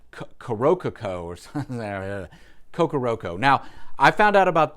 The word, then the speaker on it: Kokoroko: and talk about an album that I always mispronounce the artist's name that is from kokoroko I think I got that right I always have to double check ko-k-o-r-o-k-o kokoroko the reason why I always mess that